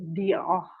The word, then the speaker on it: Dior: Nih Bapak Ibu e biasa kita kalau baca di itu itu dibaca dalam bahasa Prancisnya itu dioh kemudian kalau YSL kita